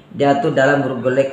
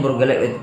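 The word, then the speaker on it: Burgerlijk: Dalam ejaan Belanda kalau ICK itu dibaca eik ya.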